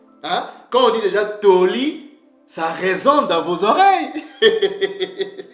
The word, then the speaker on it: Torah: mes frères et sœurs ce mot-là ne se lit pas Tora mais nos pères le prononçaiit toli toli ok ce motl